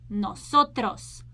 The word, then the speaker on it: nosotros: So in the company of female and male, we use this form, nosotros, nosotros. Put your lips front, nosotros, nosotros.